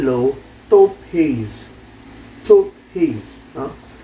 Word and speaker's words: Taupe haze: Taupe haze, no? Hirap basahin, pero ni-research ko, ganun daw yung pagbigkas niya.